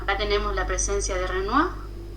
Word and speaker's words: Renoir: complementarios bien bueno ya tenemos la presencia de renoir y hay una película si pueden mirarla también